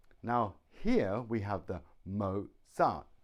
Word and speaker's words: Mozart: is Mozart Mozart now here we have the Mozart two syllables Mozart the stress is on the first syllable mo mo Mozart Mozart